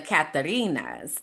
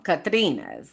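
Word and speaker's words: Catrinas: So then also you might see the Katherinas not I'm saying it wrong. Katrinas is is what it is.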